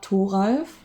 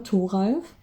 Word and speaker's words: Thoralf: This is Torulf, or Thoralf, as in, you know, our pronunciation in German, Thoralf.